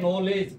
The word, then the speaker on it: knowledge: ऐसे ही इंग्लिश में स्पेलिंग होती है नॉलेज, KNOWLEDGE। अब ये देखिए, अब नॉलेज, अब इसमें कहीं भी नॉलेज के भी नहीं आ रहा है, डी भी नहीं आ